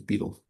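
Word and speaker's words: betel: It seems that the standard pronunciation is beetle by the way beetle nut. I wondered about that myself. So say the dictionaries here.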